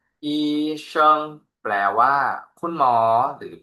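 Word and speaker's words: 医生: เดิม 2 คำ รวม กัน ครับ อ่าน ว่า อีชิง อีชิง แปล ว่า คุณ หมอ หรือ แพทย์ นะ ครับ อ่า วิธี การ เขียน ก็ โชว์ ไว้ ให้ ดู แล้ว นะ ครับ อีชิง แปล ว่า คุณ หมอ เรา มา ดู ตัว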